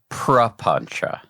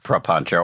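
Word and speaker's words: papañca: I have often said propancha. It sounds like that difference between poly and sanskrit which are very close. I love the term propancha or panchcho, however you want to pronounce it or spell it.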